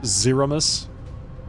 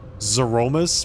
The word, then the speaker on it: Zeromus: the ones Aromas opened everyone knows this pronounced zeromus zeromus please that is no void